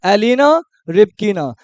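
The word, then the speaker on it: Elena Rybakina: beat की एलीना Ripana एलीना रि ना नाम को तोड़ो एलीना रिप कीना तो यानी एरीना सलका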